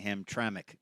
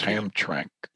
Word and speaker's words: Hamtramck: A lot of people have a hard time saying Hamtramck, don't they? That's right. Well, you kind of want to just say two syllables, Hamtramck. Yeah, yeah. But it's Hamtramck.